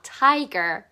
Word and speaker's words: tiger: 자, r 발음할 때 혓바닥 과감하게 뒤로 확 밀어주세요. tiger.